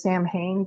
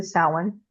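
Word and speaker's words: Samhain: And some people there's also the old Celtic this a lot of people mispronounce it as Sam Hayne. That is not correct. It's actually sin.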